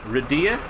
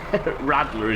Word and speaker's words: Radler: Radia? My mistake. I couldn't see. So he can't read again. It looked like an L. Radler is his name now, though, right? As is the Doomhaus way. The first pronunciation is the only one that sticks.